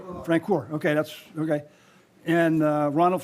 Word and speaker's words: Francor: How do you pronounce the last name? Francor.